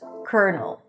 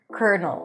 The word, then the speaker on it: colonel: Colonel. Colonel. Or in the movies they say lieutenant colonel.